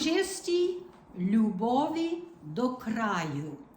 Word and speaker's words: любові: It's important to make the L a liquid L. Not любові, it's любові. Do you understand the liquid part of the L? I don't know how else to explain it. It's You put a Y after the L, it's You.